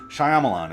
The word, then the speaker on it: Shyamalan: and night the sups stop pronouncing his name as Shamma Lamma ding-dongs getting old really old Shyamalan it's not that hard